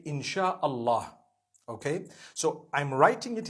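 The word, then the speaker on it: Insya Allah: They pronounce the SY the way we pronounce SH. So they can write it how they want, for as long as when people read it, they read it Insha Allah.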